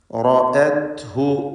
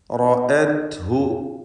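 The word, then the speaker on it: رأته: റഅത്ഹു, റഅത്ഹു ശരിക്കും ശ്രദ്ധിക്കേണ്ട ഒരു പദമാണ്. റാ പൂർണ്ണമായ തഫ്ഖീം ചെയ്യേണ്ട അവസ്ഥയാണ് മഫ്തൂഹായതുകൊണ്ട്. തടിപ്പിച്ച് റാഇനെ ഉച്ചരിക്കുക. റഅത്ഹു ഹംസ ശേഷം വന്നത് ഇസ്തിഫാലിൻ്റെ ഹർഫാണ്, അതും ഫത്ഹുണ്ട്. എന്നാൽ ആ ഹംസക്ക് അല്പം പോലും തഫ്ഖീമില്ല, മറിച്ച് തർക്കീഖാണ്.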